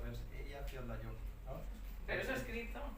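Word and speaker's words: Eyjafjallajökull: El truco que son 3 palabras juntas, ¿no? Ella, que significa isla, Fjalla, que significa montaña, y Jökull, que significa glaciar. Entonces, los separas en 3 y entonces es más fácil de pronunciar, pero sí, desde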